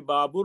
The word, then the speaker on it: Babar: of the academic person who said that it should be Babur really have been to the Central Asian countries to see how they pronounce it. So they pronounce it completely different. But as I feel that because he belongs to us, he is a king which we regard as with a high regard, so it should be called Babar.